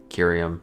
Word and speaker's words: curium: Oh hard C. Okay. I was like what the chemical property we hard Curium not serium.